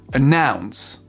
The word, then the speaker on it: announce: verbes, vous faites pause, vous prenez le temps de vous entraîner à les accentuer sur la 2e syllabe et vous vérifiez juste après. Refuse, refuse. Prefer, prefer. Occur, occur. Submit, submit. Announce, announce.